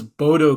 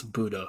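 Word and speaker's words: Bodø: I thought it was Bodto glimp. Apparently, it's Budo. So, thank you, Norway. Much appreciate. I didn't know I didn't know that either. Really? Budo?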